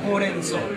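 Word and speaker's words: ほうれんそう: So the word for spinach in Japanese is horenso. So how are you going to remember this word? Horenso. The color orange.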